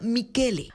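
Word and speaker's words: Michele: ni siquiera se pronuncia Así que este Michel se pronuncia mikele Así que el nuevo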